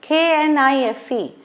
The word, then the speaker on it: knife: Okay, knife, K-N-I-F-E, but K is not pronounced at all, we say knife.